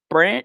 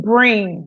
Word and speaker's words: Breen: So we will be right back up after this with Coach Brent. How you say his name? Brent. Breen.